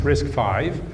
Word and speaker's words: RISC-V: why is the name risk five and it's pronounced risk five and the reason is it's the fifth iteration